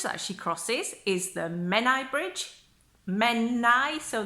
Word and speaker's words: Menai: she crosses is the Menai bridge men nice oh the AI is pronounced just as an I so men I and the word that